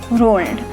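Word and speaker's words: whorled: रोल्ड, डब्लू इसमें silent है तो रोल्ड.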